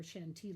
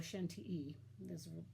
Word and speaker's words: Chantilly: in the tradition of Chantilly lace or chantey lace with a rose ground filling and she thought well that's different cause Chantilly normally or Shen te is supposed to be pronounced as normally does not